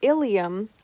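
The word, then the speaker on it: ileum: different meanings for example ilium and ilium are both spelled differently yet are pronounced the same the ilium is a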